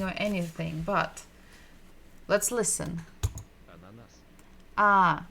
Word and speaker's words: Ананас: Ананас. Ah, the first sound is ah, and it is the first letter of the alphabet, and it's pretty much the same in all of the Latin languages.